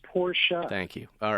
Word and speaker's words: Porsche: What is the correct pronunciation? You run a Porsche dealership. Well, it's somebody's name. It's Porsche.